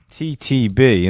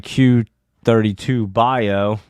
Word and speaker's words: Q32 Bio: And let's look at QTBB, or QTTB. Let me say it right. Q32 Bio.